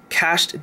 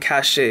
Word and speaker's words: cached: storage there's this thing which hopefully I pronounced properly this time cached data I'm usually used to saying cach a it's a bad habit of mine anyway uh there's a